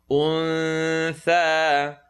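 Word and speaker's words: أنثى: Un-tha. Tongue, not touch is going to be pronounced. Un-tha. Wama khalaqa dhakara wal untha. Remember the oo, remember the cool sound. So say oo, untha, untha.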